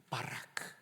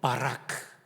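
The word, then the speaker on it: בָּרַךְ: 바라크. 한번 따라해 볼까요? 바라크. 신대원이 가까워서 그런지 발음이 거의 신대원 수준이십니다.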